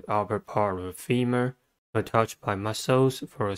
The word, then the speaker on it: femur: Femur has two syllables and the stress is at the first one. The first syllable is fi. E, the second sound of a e. The second syllable is mer. U controlled by R.